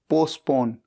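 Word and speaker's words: postpone: पी ओ एन ई पोस्टपोन यहां पर T silent है और इसका मतलब होता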